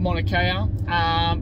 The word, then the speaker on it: Mauna Kea: Is that how it's pronounced, Johnny? I think you got that right there, Adam. Mauna Kea.